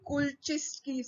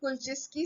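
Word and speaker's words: Kulchitsky: The, there are other cells which are called as the Kulczycki cells. The T is silent. Kulczycki cells or they are the endocrine.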